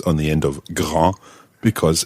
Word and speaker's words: grand: we're going to look at is the word Gra no you know what gra means already yes